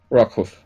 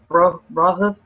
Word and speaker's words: Rockhoof: It's rock hoof. Yeah, rock hoof. Rock hoof, okay. Not blow hoof. It's rock hoof.